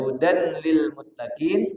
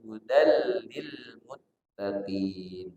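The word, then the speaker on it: هُدًى لِلْمُتَّقِينَ: Hudallil itu ada tanwin, hudan. Di depannya lam. Maka namanya idgham bila gunnah. Maka dia bacanya tidak hudan lil muttaqin tapi hudal lil muttaqin.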